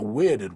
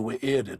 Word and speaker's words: Wy'rd: So in this case, it is not the Wy'rd world, it is the Wy'rd world.